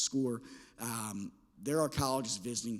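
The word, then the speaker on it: Scoir: used for the past several years is called score it's spelled s c i r but it's pronounced score um there are colleges visiting through that and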